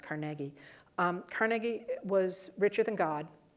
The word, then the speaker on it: Carnegie: And what I'm referring to when I say that is Carnegie, and by the way, not Carnegie, it's pronounced Carnegie.